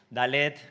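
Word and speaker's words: דלת: sección donde pone dalet dalet es una consonante hebrea que se pronuncia como nuestra d vale Así que es ese sonido d y todas las eh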